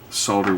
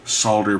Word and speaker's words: solder: somebody's back up because they don't like solder pronounced the proper way with the l pronounced which is the correct way by the way everybody that says it as a solder is saying it wrong but i digress that's